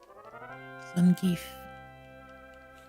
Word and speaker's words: Zangief: That's actually how his name is pronounced. Zangief.